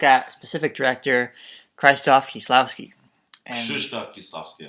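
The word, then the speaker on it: Krzysztof Kieślowski: Krzysztof Kieslowski, unfortunately, that's how you say his name.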